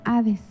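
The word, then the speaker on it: ᾅδης: se pronuncia ceoe y en griego se pronuncia a dis eres infierno mismo es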